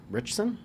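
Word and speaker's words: Ritchson: his name alan richards i think it's pronounced alan rick richson but yeah but the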